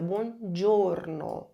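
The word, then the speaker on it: buongiorno: Atenção à pronúncia. Bom giorno.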